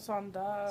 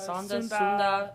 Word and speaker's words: Sunda: Sunda. Sunda.